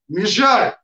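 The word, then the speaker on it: measure: আচ্ছা, তাহলে মাপো, মেজার। আর মেজারের উচ্চারণ এটা একটু শিখে রাখো, এটা তো অনেকে পড়ায়।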